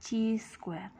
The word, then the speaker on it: chi-square: adalah uji chi-square atau ditulisnya kayak x kuadrat tapi ini dibacanya dengan chi-square tapi jika standar deviasi